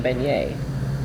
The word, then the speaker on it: beignet: Hey, at least I didn't put the T on beignet.